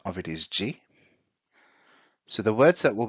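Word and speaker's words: 時: So the kanji means time or hour, and the pronunciation of it is ji.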